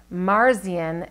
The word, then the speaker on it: Marzian: legislature named Mary Lou Marzian ma are CIA n that's how I would pronounce it whose proposed a bill